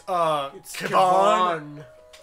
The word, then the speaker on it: Kevon: It's not, oh, Kevin, it's Kevon.